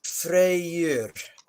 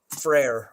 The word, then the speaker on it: Freyr: it's important to understand an Old Norse the why is a kind of a is it sound it connects things so it's technically two syllables and it's freyr is frere or Frey's name uh